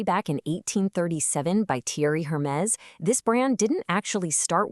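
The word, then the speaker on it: Hermès: A lot of people say Hermes, but in French, the H is totally silent, and you actually do pronounce the S on the end, so it's Hermes. Go on, try it. Hermes.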